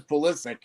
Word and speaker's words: Pulisic: postage right right but he actually says pulisic so with a hard C so I'm yeah what